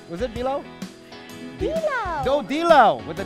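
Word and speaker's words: dilaw: How do you say yellow in Tagalog, sweetie? Bilaw. Bilaw? Yeah. Yes. Bilaw? Bilaw. Bilaw. Bilaw. Bilaw? With a D.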